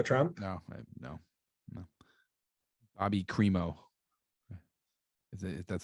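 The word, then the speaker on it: Crimo: a blacks for trump no no no bobby cremo that's how you pronounce his name the white man well you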